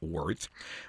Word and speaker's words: WRTH: Travis Smiley, Justin Elliot, and Jerem Samuels, the Miami based tech founders who created Worth, spelled WRT, pronounced Words.